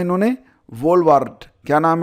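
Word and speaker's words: Wolvaardt: वार्ट क्या नाम है? वाराट या जो क्या पढ़ेंगे आप इसे भाई? ठीक है? डब्ल्यू ओ एल वी ए आर डी टी क्या पढ़ेंगे आप? डी इसमें साइलेंट रहेगा।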